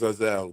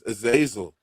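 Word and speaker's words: Azazel: Terrence is Aazelle, a lot of people do pronounce it as Aazelle, but it's Aazil. A lot of people, most people pronounce it as Aazil, but I'm What is What is he known for?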